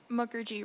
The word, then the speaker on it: Mukherjee: How do you pronounce the last name? Mukherjee, Rani Mukherjee.